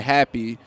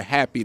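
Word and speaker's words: Hapi: Because when you hear me say it, I meditate until I'm near happy, because meditation calms you down. But when you read it in here, it's spelled happy, H-A-P-I. That's the God of the Nile.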